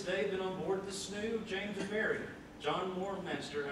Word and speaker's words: snow: what was called a snoo. That's how you pronounce it. It's not pronounced snow. It's pronounced snoo, and it was called the James and Mary, January 12th, 1768.